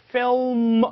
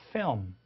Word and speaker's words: film: 자, 우리는 그냥 필름이라고 하지만 정확하게는 L 사운드가 아주 어둡게 나요. 그래서 film 이렇게 되는 게 아니고 film, film. 혀가 그냥 올라갈랑 말랑하다 끝납니다.